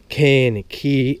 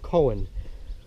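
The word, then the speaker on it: Kohen: It's spelled cane, K-O-H-E-N. That's how you spell the name of it. It looks like, when you pronounce it, it looks like it's called Cohen. But it's not, it's pronounced cane.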